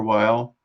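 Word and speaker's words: Weil: book is Simone wheel is it wheel or while um her her niece told me that we pronounce it they like v-a-y which is a bit weird because that's neither totally French nor German but yes spell it w-e-i-l so people right so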